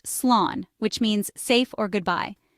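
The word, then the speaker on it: slán: While you can simply say goodbye in English in Irish you can say slan pronounced slan which means safe or goodbye.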